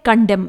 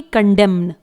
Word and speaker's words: condemn: Last word है कंडेम, spelling है CONDEMN। यहां पर भी red colour letter N silent रहेगा, इसे हम कंडेम पढ़ेंगे ना कि कंडेम्न।